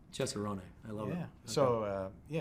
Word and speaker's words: Cesarone: not so much and here we say cesaron how do you say yeah wrong okay yeah chessarone I love it yeah